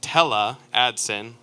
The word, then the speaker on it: Tele Aadsen: the marketers call telemarketers so her name is pronounced tele adson like storytella and she's been fishing since she